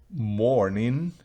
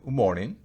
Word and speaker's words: mourning: Pero la palabra morning, que se pronuncia muy similar, un poco más larga la E, pero morning. La primera es morning, morning.